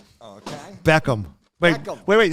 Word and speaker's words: Beckham: mini movie reviews all right Bend It Like Beckman okay Beckham wait wait how do you say his name